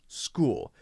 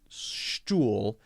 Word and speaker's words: school: go into that but CH can be a K sound school for example SCH ool school it's not pronounced stool it's pronounced school right